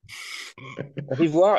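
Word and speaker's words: Rivoire: rivoir tu écrit comment le nom de famille rivoir r V o i r e et comme ça se prononce quoi comme rivoir et carré euh unou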